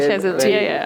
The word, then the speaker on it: Shazeal: wonderful insight लाइ शजल life शजल होता है आपने नाम सही प्रोनाउंस किया जी जी बिल्कुल शजल वेरी गुड तीन सात